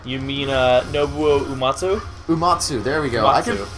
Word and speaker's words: Uematsu: You mean Nobuo Uematsu? Uematsu, there we go. Uematsu. I am very good at pronouncing foreign names because I'm a very smart man.